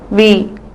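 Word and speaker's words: वह: அதாவது திஸ், இது இவனோட பெயர் வந்து ரகு, இவளுடைய பெயர் சாக்ஷி, இந்த மாதிரி இடங்கள்ல யூஸ் பண்ணலாம். இந்த வார்த்தை வஹ். இந்த இடத்துல ஹாங்கிற வார்த்தை வந்து நம்ம ப்ரொனவுன்ஸ் பண்ணக்கூடாது. ஸோ வே.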